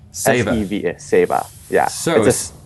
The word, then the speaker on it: Seva: Seva. S-E-V-A.